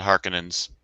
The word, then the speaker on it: Harkonnens: The Harkonnens.